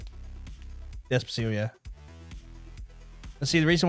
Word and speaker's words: Despacito: Is that how you pronounce it? Despacito, yeah.